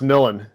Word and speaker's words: Millen: thing i'll say my it's pronounced millen just to be clean sorry now you're good i hate them people mess up my name i'm sorry milan yeah yeah yeah no